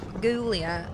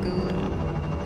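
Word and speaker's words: Ghoulia: Guglia. However, I spell it G-H-O-U-L-I-A. Like Guglia.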